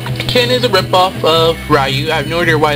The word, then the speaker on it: Ryu: Ru or uh um I have no idea how to really pronounce his name I usually call him rayu but I hear a lot that his name is actually Ryu but if I have